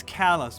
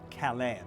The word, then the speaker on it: Calais: But it's Calais, Maine, not Calais, Maine. So there's gonna be some weird pronunciation for Montpellier as well.